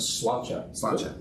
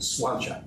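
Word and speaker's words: Sláinte: We pronounce it Slainte. Slainte.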